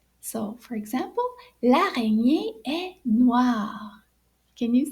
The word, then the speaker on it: noir: So black in French is noir. Can you say that? Noir. So it's spelled N-O-I-R, noir.